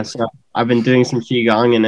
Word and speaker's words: Qigong: Qigong. Yep, that's right. Yeah, so I've been doing some Qigong, and it's been pretty awesome.